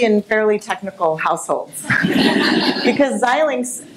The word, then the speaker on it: Xilinx: Fairly technical household because zyl links sometimes called xlinks uh but we help people understand how to pronounce it um isn't necessarily a